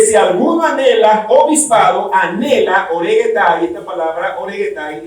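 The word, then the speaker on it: ὀρέγεται: Dice, eitis episcopes oregetai calu ergu epitumei.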